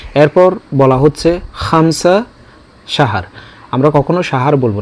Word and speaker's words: خمسة: সেই জায়গায় আমরা খামসা, কামসা, কামসিন, কামসিন এই শব্দগুলো বলে থাকি। তো এগুলো মোটেও বলা উচিত না, বলতে হবে বিল হরফ খ, খামসা, খামসা। এরপর বলা হচ্ছে খামসা সাহার।